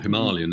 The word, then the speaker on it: Himalayan: I mean, it's a bit like have you ridden the Royal Enfield Himalayan, or Himalayan as it's properly pronounced?